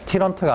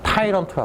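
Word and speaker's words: tyrant: 발음 잘해. 티런트가 아니야. 타이런트라 그래. 따런트 했니 따라 타이런트라고 하거든요.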